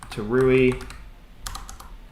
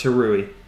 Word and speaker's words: Tauri: is pmpm uh run to ruie to r e Dev it's pronounced to RI gotcha thanks that's hilarious